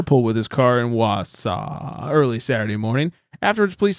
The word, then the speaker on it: Wausau: You can help me with this pronunciation, Flex. Wausau, Wisconsin?